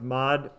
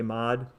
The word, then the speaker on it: mod: So I'm going to do, and by the way, so this is pronounced mod. The full word would be, I guess, modulo or modulus. I usually just say mod.